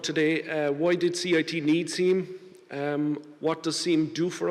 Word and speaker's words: SIEM: We've put SIEM into CIT. Sometimes it's pronounced SIM actually, but I'm going to use SIEM.